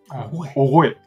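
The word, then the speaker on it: 御絵: おごえ。この御所の号に後ろに絵と書いて、これ、おごえと読むんですけ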